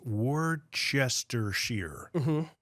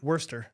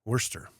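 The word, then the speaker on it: Worcester: in Massachusetts that's uh it looks like it's Wester Sher right Worster Worster that's right yeah like the sauce that's right and even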